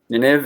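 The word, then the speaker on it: Nynaeve: Perrin, and I guess people are telling me it's Nineveh. Nineveh is how you say it, and I was saying it Nineveh, but it's Nineveh. I guess that's what it says in the back of the book.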